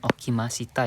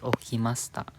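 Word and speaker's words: おきました: Bacanya bukan okimasita ya, tapi okimasta. Si-nya ini dibaca lembut.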